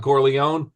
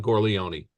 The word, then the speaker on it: Corleone: Some people call him Don Corleone and some people call him Don Corleion, right?